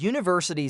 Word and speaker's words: university: For example, we say an hour because the H is silent and a university because university starts with the U sound.